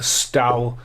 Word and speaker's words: Stowe: Madeline Stowe, I always said Stone, but then Brad Pitt.